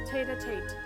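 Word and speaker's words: tête-à-tête: How do you pronounce it? Tate-a-tate.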